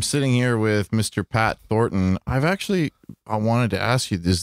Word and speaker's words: Thornton: I wanted to ask you, is that middle end just silent, or is the correct pronunciation Thornton? I guess it is Thornton. Yeah, that's so like laborious that like yeah. Everybody just says Thornton.